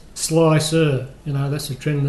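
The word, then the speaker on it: Slic3r: R slick 3 R which is pronounced slicer you know that's the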